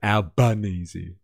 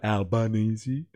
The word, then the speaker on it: Albanese: I don't like how the AI is pronouncing. Where is it? Albanzy. It's time to go. Albanese.